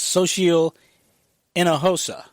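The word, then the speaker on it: Xóchitl Hinojosa: director at the DNC her name is difficult to pronounce but it's social in a HOSA I had to pronounce had to practice that it's got a very weird spelling so she'll in a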